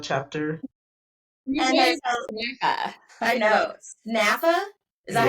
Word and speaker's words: SNPhA: SNPhA? Is that how you say it? SNPhA.